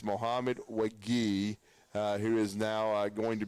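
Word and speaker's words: Mohamed Wague: West Virginia media guide of how to pronounce it. But it's Mohamed Wagi, who is now going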